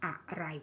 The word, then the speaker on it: อะไร: question word อะไร is in an everyday conversation we won't say อะไร we won't stress the syllable อะ very much, so อะไร would just become อะไร so that อะ kind of reduced and unstressed. Okay, อะไร is a little bit like the word about.